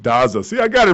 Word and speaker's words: Daza: We are blessed here at the show today to have Daza. Is that how you say it? That's correct. Daza.